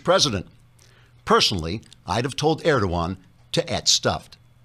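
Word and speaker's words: Erdoğan: Personally, I'd have told Erdogan to et stuffed. The G is silent.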